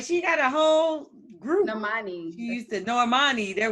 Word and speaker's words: Normani: Normandy, who they was like, is that how you say her name? That child, they all video birds. Yeah, she's a whole singer. Like she got a whole group. Normani.